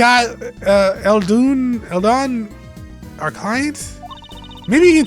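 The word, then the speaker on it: Eldoon: doll this is this is Mr G uh elun Elon our client maybe you can tell us what your problem is Mr alun am I pronouncing that right all right apparently is alun I I guess like what's it called udon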